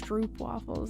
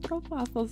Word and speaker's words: stroopwafels: called stroopwafels, and it spells out like it's stroopwafels, and me and my brothers would always pronounce it like that. My mom would be like, it's pronounced stroopwafels.